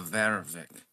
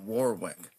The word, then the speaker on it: Vervik: I'm a Vervik. That's the original pronunciation of our family name. Originally, it was not Warwick. It was before that Warwick and then before that it was Verific. They didn't really have a W in their vocabulary. So it would have been Verific.